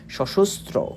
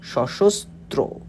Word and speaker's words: সশস্ত্র: হবে সশস্ত্র ত এর ফালা উকার এই যে উচ্চারণটা এরকম হবে সশস্ত্র সশস্ত্র সশস্ত্র সুন্দরের অনিবার্য অভ্যুত্থান কবিতা তো এই সশস্ত্র